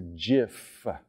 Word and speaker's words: GIF: gonna get booze here G stands for gif say it together now soft G softer than my hands all right um when